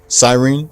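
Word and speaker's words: Psyren: But, um, it's originally spelled P S Y P S Y R E N. Sirene.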